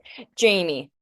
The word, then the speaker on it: Jaime: This is gonna be a really dumb question, and I assume I know the answer, but how would I say your name? Jamie.